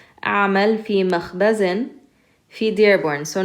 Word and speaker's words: أعمل: أعمل في مخبز في Dearborn. So notice this أعمل, you're going to pronounce the a sound followed by the hamza.